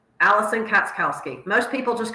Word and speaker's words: Katschkowsky: the audience so we can hear it correctly pronounced katowski Allison katowski most people just call me Allison K that's